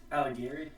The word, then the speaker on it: Alighieri: Alighieri.